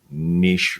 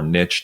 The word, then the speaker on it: niche: So if you can start to get into those niche or niche, depending on how you say it, areas, then you can certainly move the needle, because there are people who are searching for that stuff.